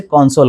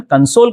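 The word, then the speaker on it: console: Machine होता है जिसे कॉन्सोल कहा जाता है। कि my daddy gifted me अ कॉन्सोल ऑन my birthday. लेकिन अगर मैं इसका प्रोनाउंसिएशन कंसोल करता हूं तो ये वर्ब हो जाएगा और वर्ब होने पर इसका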